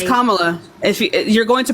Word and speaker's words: Kamala: So it's Kamala. Thank you. You see how you got annoyed? Thank you for proving my point. Thank you so much. Anyway. So it's Kamala.